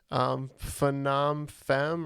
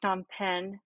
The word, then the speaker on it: Phnom Penh: Phnom Fem or Penom Fem or something. I've only ever seen it written. I've never heard it pronounced. So, Jeff, you are correct. Phnom Penh is the capital of Cambodia, and Kuala Lumpur,